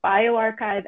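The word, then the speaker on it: bioRxiv: And we've also identified that these are pronounced bioarchive and medarchive.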